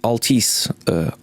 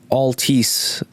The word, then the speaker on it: Altice: they played this time now it's called ulti ulti said Anna but ulti Altice Altice because I I know how to pronounce all T's in English but whatever Altice arena